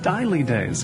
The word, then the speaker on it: Dejlige Days: much but until today didn't know how to pronounce have i remembered it right daily days days daily days yes is the name of the blog melanie